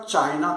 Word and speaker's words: China: मी सांगितलं होतं, पण ब्रिटिश लोक लिहिताना कसं लिहितात बघा, की उदाहरणार्थ चीन हा शब्द ते CHINA लिहितात बरोबर आहे, पण त्याचा उच्चार करताना चायना करतात. डिरेक्टर का डायरेक्टर, इसाक न्यूटन का आयझॅक न्यूटन, स्पेलिंग बघा. मग लक्षात येतं की खूप वेळेला आय या लेटरचा उच्चार ते आय असाच करतात, जसं चायना.